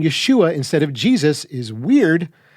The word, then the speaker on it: Yeshua: understanding of language then the only pronunciation of the savior's name is Yeshua written in English either with a y e or y apostrophe these two being pretty close